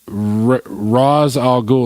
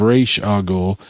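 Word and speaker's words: Ra's al Ghul: Literally the only reason he hates them, it's because they pronounce uh Raz a Ghoul instead of R A Ghoul.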